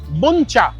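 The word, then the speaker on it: Bún chả: বনচা সারা series যেটাকে আমি বাঞ্চা বাঞ্চা করে এলাম। জানলাম একচুয়াল উচ্চারণটা হচ্ছে বুনচা।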